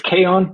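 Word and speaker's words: kaon: Is it Kon Kawan? It's it's it's Kon, but you can pronounce I mean Kon is the name of the of the subatomic particle.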